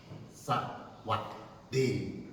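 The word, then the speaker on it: สวัสดี: 말에 안녕하십니까 그 말이에요 태국 가면 만나면 덮어놓고 싸와디카 싸왓디 예 그렇게 발음을는 것입니다 싸와디 그렇죠네 싸네 예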